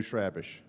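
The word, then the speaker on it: Chrabascz: Pronounce his last name again, because I've heard 14 different ways. Andrew Schrabish. Travis? Schrabish.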